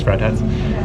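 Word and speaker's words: Friedhats: Thanks, Fried Hats. Fried hats, that's how you say it.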